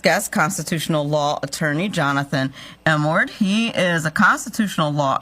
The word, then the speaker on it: Emord: It's a long E, Emord. It's Emord.